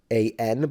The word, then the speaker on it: Xi'an: Xi'an, which is written Xian, but it's the X in Chinese is a sound in between the S in English and the sh in English. It's in between. So you would have sh, s. It's the second one.